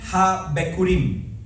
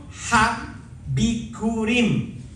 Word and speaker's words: HaBikurim: El hebreo para fiesta de las primicias es Yom HaBikurim. Yom HaBikurim. Se escribe Y o la Y o M.